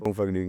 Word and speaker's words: Funkvergnügen: Because you recorded like those mixtapes, and correct me if I pronounce it wrong. It's Funkvergnügen. Funkvergnügen, yes.